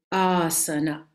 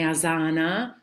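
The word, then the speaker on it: āsana: questa a è lunga Siccome è lunga l'accento va Qui Asana Mh quindi non è Asana non è Asana con la z è una s sa sa m non za quindi diventa Asana o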